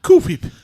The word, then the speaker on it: Cool Whip: are you putting so much emphasis on the H? What do you mean, Brian? I'm just saying cool whip. Say cool. Cool. Say whip. Whip. Now say Cool Whip. Cool whip. That's how you say it.